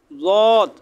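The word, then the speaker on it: ضاد: লদ, এটা একটু খেয়াল করে পড়বেন, জিহ্বার গোড়া উপরের মাড়ির দাঁতের গোড়ার সাথে লাগিয়ে একটু সাবধানতার সাথে উচ্চারণ করবেন লদ।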